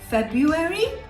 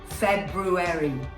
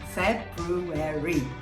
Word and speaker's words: February: say did you say february because even though it might sound right it isn't you have to pronounce the r so the correct pronunciation for this one would be february february okay well i hope